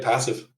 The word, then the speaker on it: Passiv: talk to Nick this morning and did I pronounce that correctly passive yeah that's right passive awesome well Nick thanks uh thanks for coming